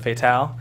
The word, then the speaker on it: Fatal: And everybody pronounced it Fetal though instead of Fatal. So spelled the same way.